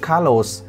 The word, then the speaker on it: Carlos: Cái thứ hai là chị luôn luôn nhớ nha, cái từ Carlos chị phải nhớ là cái âm cuối, cái âm S ở tên anh ý chị phải phát âm cực kỳ rõ cho em đúng không chị Hồng?